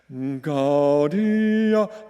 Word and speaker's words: Gaudia: Gaudia, Gaudia is how we will pronounce those first two words, but the rest is pretty straightforward. And it goes like this. Gaudia, Gaudia, come one and all.